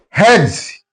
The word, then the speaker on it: hedge: Hedge, here D is silent.